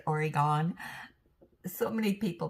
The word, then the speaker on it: Oregon: Pacific Standard Time here in Salem, Oregon. And and I don't know how many of you when I say Oregon, so many people pronounce that. It's really Oregon.